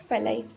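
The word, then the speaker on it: pili: ये देखिए, तो ये पाइलाई है, इसका स्पेलिंग होता है PILLI, पाइलाई।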